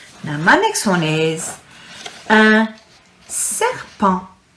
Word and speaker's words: un serpent: Now my next one is un serpent. The T is silent again.